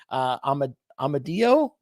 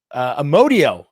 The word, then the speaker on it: Amodio: and we have Miguel Amadio. I knew I was going to say that wrong, Miguel. I knew it. Amodio is the correct way to say it.